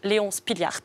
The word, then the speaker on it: Léon Spilliaert: c'est celui-là j'ai bien évidemment essayer de le prononcer correctement donc léon spilliaert bravo merci beaucoup et tu nous parles de